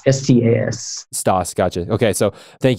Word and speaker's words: Stas: Stas, S-T-A-S.